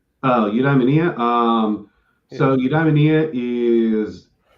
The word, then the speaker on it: Eudaimonia: And so how for somebody who's just now being exposed to your work, how would you describe is my pronunciation Eudaimonia? Eudaimonia.